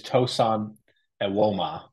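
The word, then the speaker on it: Tosan Evbuomwan: For what it's worth, it is Tosin Ewoma. That's right. That's right. That is the correct pronunciation.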